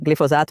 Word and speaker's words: glifosato: Eu Já ouvi as pessoas dizerem pronunciarem de glisofato. várias formas. Glisofato é um que as pessoas tendem a dizer glisofato, trocando o S e o F.